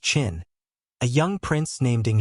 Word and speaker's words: Qin: In the western state ofQin, pronounced Chin.